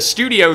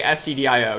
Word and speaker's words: stdio: the entire time yeah i sometimes pronounce this as studio just to bug people um but yeah usually people i think just say stdio you all can correct me in the chat if we have any experience c programmers but yeah i i always just pronounce it stdio you can't say studio though so all right